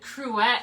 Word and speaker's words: cruet: cute cruette oh it cruette is how you say it oh okay cruette that makes sense I never know when